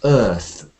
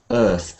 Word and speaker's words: earth: mispronounced so this is Earth Earth and um the key V sound here is like bird and Sir Earth and I think